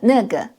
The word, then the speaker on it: 那个: In China, the word that is pronunciation 那个, which is pronunciation the same as the N word.